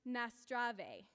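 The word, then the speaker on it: Наздраве: possible we're going to say cheers in bulgarian and it's pronounced nastrave so on the count of three one two three nastrave hello again um so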